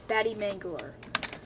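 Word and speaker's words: Batte Mangler: to pronounce it the the pronunciation for my channel name is bad Mangler okay just have to clear it up you pronounce it be b a t t e batty m a n g l e r Mangler um one of the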